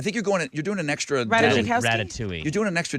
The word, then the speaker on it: Ratajkowski: Like Emily Ratajkowski is off limits.